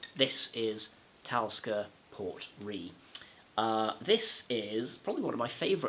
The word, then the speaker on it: Ruighe: hence the name uh also the pronunciation re it's spelled r-u-i-g-h-e region um because gallic likes